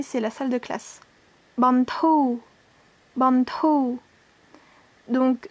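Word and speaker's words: បន្ធូរ: Bantou, bantou. Donc, dans ce mot-là, bantou, on a la consonne finale ro, mais elle ne se prononce pas. Donc, c'est juste bantou.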